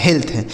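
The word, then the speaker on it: health: आधा ल और टी एच से हो गया थ यह लिखा गया आपका हेल्थ एच ई एल टी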